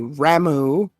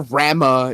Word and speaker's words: Ramuh: you have Ifrit, Shiva, Bahamut, Titan, let's see, Ramu, or Rama if you want to fucking be a pronunciation Nazi.